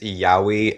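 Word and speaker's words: yaoi: Yeah, I don't know enough anime to It's pronounced yahi and it's it's like gay stuff.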